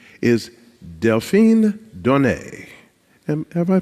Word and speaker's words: Delphine Donné: panel to my left to your right is deline Don have I pronounced it correctly yes thank you thank you